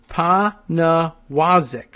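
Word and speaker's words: Pniewzik: says it right here in his profile it's pazik thanks for asking see I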